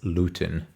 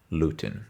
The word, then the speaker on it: Luetin: I pronounce probably three different ways uh how it can be pronounced but he said it. It's Lutin. Lutin.